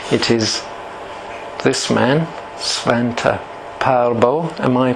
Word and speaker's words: Pääbo: and Denisovan DNA, it is this man, Svante Pääbo. Am I pronouncing it correctly, Ola? Pääbo.